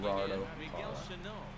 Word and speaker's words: Gerardo Parra: Oh wow, Gerardo Parra went yard. That's how you say his name. Gerardo Parra.